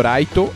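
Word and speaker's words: ライト: e a Gami ou raito e raito seria mais ou menos a pronúncia da palavra Light em japonês O japonês tem uma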